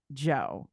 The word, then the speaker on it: DJO: recently did an interview with Joe. It's spelled DJO.